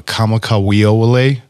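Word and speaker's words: Israel Kamakawiwoʻole: He goes by it's Israel Kamakawiole. Oh yes, is how you pronounce that's his last name. Yeah, K A W A K O L O W E.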